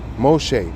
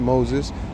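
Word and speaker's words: משה: Moshe, my bad, not Moses.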